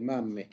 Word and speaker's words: mamme: La mamma, Le mamme. le mamme. Ojo ahí a la doble M.